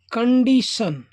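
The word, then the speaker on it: condition: एन इसको पढ़ते हैं कंडीशन देखिए कोई भी स्पेलिंग जो है उसके बाद में टी आई ओ एन आता है तो उसमें यह वाला स लगेगा और उसको बोलते हैं सन कंडीशन सी ओ एन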